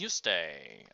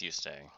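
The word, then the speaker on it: Juste: our character's name is Yuste. I believe it's Yuste. I know that sounds like I'm literally just saying you stay, but I think that's actually how you pronounce the name.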